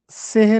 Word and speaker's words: سحر: و اصطلاحی معنی بتائیے۔ تو سحر کا درست لفظ سحر ہے، سین کے نیچے زیر لگا ہے۔ سحر کا مطلب ہوتا